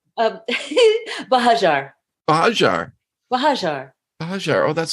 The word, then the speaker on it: Buhagiar: I'm going to say Buhagiar, and I know that's wrong.